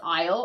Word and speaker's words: isle: So, this word is isle. I know it doesn't look like it. Uh, but that is the pronunciation isle.